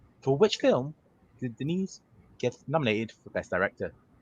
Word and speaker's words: Denis Villeneuve: Your first question in the world of Denise Villeneuve. I learned how to say his name. No, you didn't. You said you're talking about like a sister, Denise. What are you? Yeah, it's Denis. Denis. Denis Villeneuve.